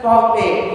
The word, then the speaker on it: parler: While saying that verb separately, it should be pronounced as parler.